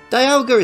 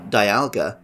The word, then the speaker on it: Dialga: art Beats the name Dialga which sometimes I still pronounce as Dialga of course sounds a little like diamond the game for which it appeared on the box it also incorporates dials